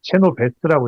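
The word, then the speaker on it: Chenoweth: 그 다 건국대 이관우 교수 말에 따르면이 사람 발음을 체노 베스트라고 해야 된다는데 그러니까 전 국민의 3.5% 집단적으로 반복적으로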